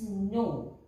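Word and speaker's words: nos: Then no, that we will use notre, N-O-T-R-E, that means our. Same here, N-O-T-R-E, but the both are same, and here it is no, N-O-S, no.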